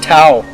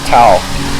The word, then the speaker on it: Tao: It's called Tao. Tao, T A O, but it's, you know, like Zen and Tao, but it's actually Dao.